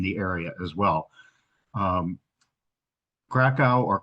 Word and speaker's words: Kraków: Um Krakow or Kov as it's pronounced in Polish is quite far south in the country and in fact do I have my I don't have my pointer.